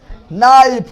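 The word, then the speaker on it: knife: टीओ नाइफ। कौन चीज़? नाइफ मतलब चाकू यह हुआ नाइफ लेकिन अब आएगा के कैनाइट कैनाइट कैन के कहा तो के साइलेंट कौन चीज नॉलेज का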